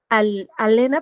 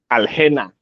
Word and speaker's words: Aliena: Pues es Alena, pero no, es como aliena, ¿no? O sea, así se pronunciaría. Aljena.